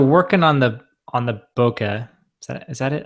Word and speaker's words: bokeh: like so they're working on the on the boka is that is that it am I saying it right Bak yeah is it chewbaka or chwok it's the bokeh effect boka anyways the bokeh effect so they're still working